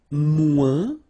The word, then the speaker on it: moins: And then, moins, same thing here. Remember, we don't pronounce the final S.